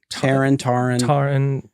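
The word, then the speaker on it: Taron: Terran, which was, and I think that Terran was, is that pronounced right? Taran, yeah. Which is I go with Taran very usually.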